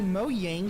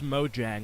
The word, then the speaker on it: Mojang: useless mob was and requested for the company mo yang to make the mob cooler bro how you gonna be a furry and not know how to pronounce mojang like pick a struggle honestly though i've never